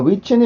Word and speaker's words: which: 자, which는 일단 우리나라에서는 이음절처럼 발음이 돼요. which는 취처럼 우리나라 이렇게 쓴단 말이에요. 근데 요거는 틀립니다. 음절의 개수가 많아졌기 때문에 이음절이지만 영어로 보면 이건 1음절이에요. 한음절.